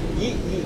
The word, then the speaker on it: Lee: Yi Min Hu, Yi Min Hu, Yi? Yi.